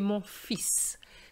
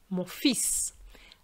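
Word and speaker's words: mon fils: part is this one if i want to say my son i'm going to say morphis so the l is not pronounced but the s is morphis as opposed to lefill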